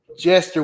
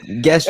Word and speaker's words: gesture: Hey man, I noticed you using gesture with a G with a G sound. Oh, gesture.